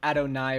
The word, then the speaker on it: Adonai: I learned Adonai rhymes with Thai, but I had I think it depends on denomination. It might be Oh, that's possible. Yeah, it could be a both is right depending on your At the very least, Google uses nay, but I would be willing to believe that different um different locations pronounce it differently.